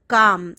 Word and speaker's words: calm: काम, L silent होता है.